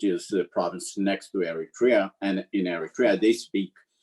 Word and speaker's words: Eritrea: families in our parish that are also from Eritrea, right? That's right. And how do you pronounce it?